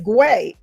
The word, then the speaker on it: Gway: That's the correct pronunciation of my name. My name is Gway.